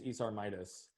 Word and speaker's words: Midas: business partner isar and i always mispronounce his last name it's esar midas but they have done